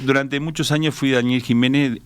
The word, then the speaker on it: Ximénez: Usted eh Daniel Jiménez, aclaremos, es con X, es con X, pero se pronuncia J.